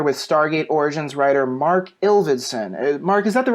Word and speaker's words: Ilvedson: people say it again ills ittsan yeah it's very close it's just it's exactly how it looks but everyone always mispronounces it and then because of